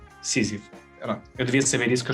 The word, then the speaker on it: Sísifo: Como é que se pronuncia? Sísifo.